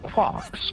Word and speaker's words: quark: The word quark is supposed to be pronounced like quart but with a K at the end instead of a T.